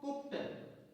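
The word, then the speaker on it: cooked: पा आ रहा है मतलब है कि जब इस शब्द में ईडी जोड़ेंगे तो डी का उच्चारण टा हो जाएगा for example C double O के कुक सी डबल ओ के ईडी कु कुक्ट ईडी जोड़ने पर कुक्ड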